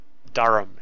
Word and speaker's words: Durham: very Swift move from Durham Durham darham is how it's said to North umberland and